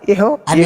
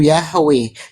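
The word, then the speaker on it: Yahweh: itu Bang Suma hancur sudah ini Bang Suma Bang Suma itu bukan pengucapan yang ee kurang tepat yang paling tepat pengucapannya itu Yahwe.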